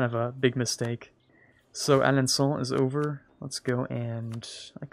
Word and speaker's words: Alençon: Alençon, maybe? That's definitely the better pronunciation. Alençon. Not Son. I was pronouncing it wrong the entire time.